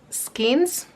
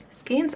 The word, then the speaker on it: skein: I think it's skein, even though it's written like skein, which makes me want to say that.